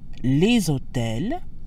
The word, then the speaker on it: hôtels: We have liaison again with hôtel, which starts with a mute H, and therefore follows the same sound rules as words that start with a vowel, such as université. So that gives us les hôtels, where the S in